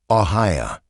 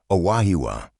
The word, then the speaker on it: Aahwa: "Aaya!" It wasn't until Dr. Sarah Running Bear arrived from the reservation that Klay understood. "Aahwa," she said, pronouncing the word correctly.